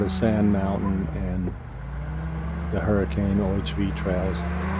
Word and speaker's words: Hurricane: Sand Mountain and the hurricane OHV trails I shouldn't say hurricane cuz that's not how we pronounce it in Utah the town uh is called hurricane that's how we can